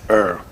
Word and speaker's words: Er: So Rosh, but they'll pronounce it same as Air. Air. Air. I think he'll pronounce it He'll pronounce it the same.